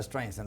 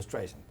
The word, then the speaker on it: Streisand: para preguntarle mil cosas, no pronuncia bien el apellido Streisand, que la segunda S la hace muy fuerte, que tiene que ser más suave.